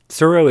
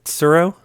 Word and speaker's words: Tsuro: What is Surro? Well, it's spelled Tsuro, which is a little hard for my American tongue to pronounce.